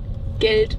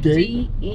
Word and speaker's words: Geld: Geld. Huh? Huh? No, what? Geld. Good. Geld. How you spell it? Gate? No, not gate. G-E-L-D. Geld. Oh, geld.